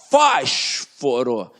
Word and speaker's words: fósforo: E é o seguinte, é só você saber separar silabicamente e pronunciar. Fósforo, ó, fósforo.